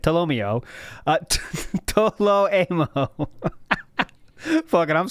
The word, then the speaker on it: Tolomeo: Tolomeo is the correct way to say it. Tolomeo. Toloemo.